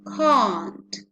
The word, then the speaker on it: can't: of course i can when can is contracted with the weakest form of not there's a change in pronunciation implied so instead of using the the the sound we have for the strong form here can we are going to change the vowel sound and it becomes can't can't so the pronunciation would